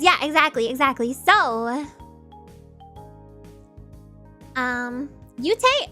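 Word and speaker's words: Yoot: exactly exactly so um yute i mean he it's spelled y-o-o-t is how it's spelled okay yeah that and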